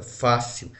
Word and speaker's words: fácil: Eu tenho uma palavra fácil, olha, fácil. A sílaba tônica aqui, o acento está na penúltima também. Então aqui eu tenho uma paroxítona.